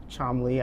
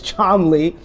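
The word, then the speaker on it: Cholmondeley: the Martian of chaly yes chomley I know it's spelled Chelli Deli but it's charmly uh but honestly why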